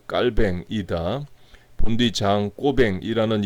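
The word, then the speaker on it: Calvin: 있다 를 강조 하겠읍니다 칼빈 4 2 저자는 깔 뱅 이렇게 썼습니다 왜냐하면 칼빈이 프랑스인 이고 프랑스 어로 발음이 깔 뱅 이기 때문에 그래요 그러나 일반적으로 제 칼빈 켈 갠 이렇게 불리죠 회의의 혈액의 순환 기능을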